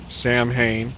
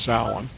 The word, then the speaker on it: Samhain: year this is samhain everybody it looks like sam hayne but it's pronounced solon and you're more familiar with it uh with